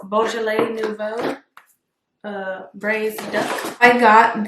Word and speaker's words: Beaujolais nouveau: is my first time using this wine it's pronounced beaujolais nouveau i'm excited because i never cooked with that